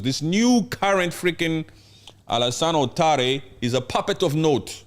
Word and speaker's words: Ouattara: Just say Ouattara. Ouattara.